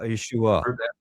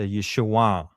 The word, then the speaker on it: Yeshua: But uh the proper way to say it at that time is a nasal back sound and it's a downward. So, Yeshua. It goes through your nose and down. Yeshua. Yeshua.